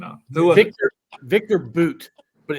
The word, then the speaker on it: Bout: name out Victor Victor boot but it's it's spelled b u t you would think it's bout but that's not how it's pronounced the woman who was